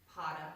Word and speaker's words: Pada: and then Pada, Ardha. Ardha. Thank you. Ardha is half. Oh, yeah, it wouldn't be Pada, Padmasana, but feet.